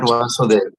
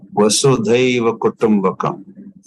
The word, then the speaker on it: Vasudhaiva Kutumbakam: not Vasudeva, not Vasudeva. Vasudhaiva Kutumbakam. Yeah. Sanskrit pronunciation correction.